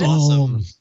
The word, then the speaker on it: OSOM: of essential have started a new company called awesome products which is spelled osom and pronounced awesome i'm sorry i'm laughing but no it's it's